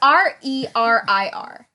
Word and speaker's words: Rerir: I'm going to say it's Rerir. That's how I've been saying it. Rear ear? Rerir. It's Rerir.